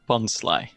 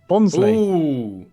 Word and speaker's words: Bonsly: fair enough sorry Ali's mom hi it's definitely bonsly bonsly bonsly it was this year you don't we have